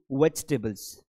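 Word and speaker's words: vegetable: इसका सही उच्चारण होगा वेज टेबल। वेजिटेबल। फास्ट बोलना है। यह जी नहीं है। यह ज है।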